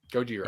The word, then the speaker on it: Gojira: the the original name oh gorgia goodyear godzilla gojira yeah yeah um the classic monster movie widely